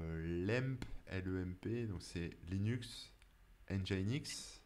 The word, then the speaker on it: Nginx: LEMP, donc c'est Linux, Nginx. Le E, c'est pour Engine, tu vois. Parce que Nginx, ça s'écrit Ouais, non, NGINX, c'est. mais ils ont mis le E.